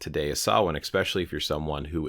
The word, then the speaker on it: Samhain: Many of you who have been practicing for quite some time understand that this isn't pronounced the way it's looked. Why? Why does this look different? Why is it not Sam Hayen?